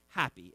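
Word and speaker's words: Hapi: Nile was a god named happy h ap I not not like we would spell it but happy was the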